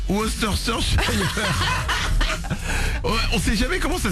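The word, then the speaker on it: Worcester: difficile à prononcer Mélanie c'est un truc avec des W Wu voà exactement c'est le truc qu'on sert au resto et qu'on steak de bœuf Tartar exactement la fameuse sauce woster on sait jamais comment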